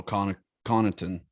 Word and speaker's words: Connaughton: Connaughton? Oh, Connaughton.